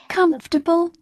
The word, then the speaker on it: comfortable: never rhymes with nation say prefer but preferable comfortable and vegetable bee must not be